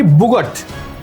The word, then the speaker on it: bougette: এর উচ্চারণ কি? বুগট।